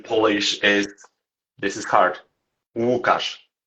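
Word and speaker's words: Łukasz: Wukauash. Wukash. Oh, perfect. Yeah. Okay. So, I wasn't pronouncing right.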